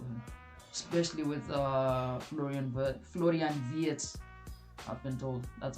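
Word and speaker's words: Florian Wirtz: right place for him, especially with uh Florian, Florian Viet, I've been told. That's how it's pronounced. Florian Viet with him coming in.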